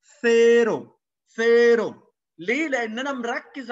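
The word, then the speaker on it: cero: فيرو حرف الفي، في ما ينفعش اقول سيرو وسيرو، بطلع طرف لساني. زيرو لا ما اسموش زيرو عندنا، اسمه ثيرو.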